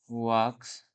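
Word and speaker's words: walks: वॉकिंग मग तुम्ही म्हणाल याच्यामध्ये एल आहे पण त्याचा एलचा काही आपण प्रोनन्सिएशन करत नाहीये मग याच्यामध्ये एल हा सायलेंट असतो त्यामुळे आपण त्याचा प्रोनन्सिएशन करत नाही वाक्स अशाप्रकारे आपलं काय झालेल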